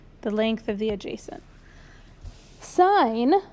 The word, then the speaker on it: sin: Sine This is pronounced sine, even though it says sin.